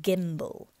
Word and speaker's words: gimble: Make the G hard in gyre and gimble, and pronounce wrath to rhyme with bath, or wrath to rhyme with bath.